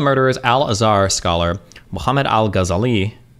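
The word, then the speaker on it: Ghazali: Alazar scholar Muhammad Al gazali gazali gazali gazali I think they usually second to last syllable right testified that when the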